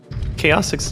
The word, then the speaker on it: Chaosix: Is it Chaos? Chaosix, yeah, that's correct.